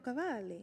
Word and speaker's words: Cavalli: say the last name because Valley oh Roberto Cavalli yes yes I met him he said did